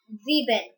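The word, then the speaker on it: sieben: s six in german seven is said as zebel zebin s i e b e n z it's not c ben it's 11 is said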